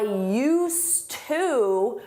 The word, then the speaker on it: used to: And for that, we need used with a D. You don't hear it in pronunciation, but it's there in spelling. I used to work at the bank, but now I work at the mall.